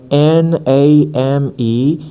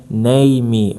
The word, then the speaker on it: name: That's why N A M E is not read. It's not read name or ne we just say name. We stop at the letter M because E is not pronounced lame.